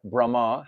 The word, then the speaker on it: Brahma: minds of Lord Brahma Lord Brahma has a long a it has a little line over the a Brahma you say it with an a